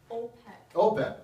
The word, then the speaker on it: OPEC: that's the big one it rhymes with gold pack OPEC right so this is OPEC